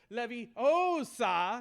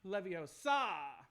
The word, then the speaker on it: Leviosa: in to correct him reminding Ron that it's pronounced Levy Osa not Leviosa lesson two is that